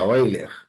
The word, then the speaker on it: Euler: o número de eiler se escreve Euler mas se pronuncia eiler é elevado a x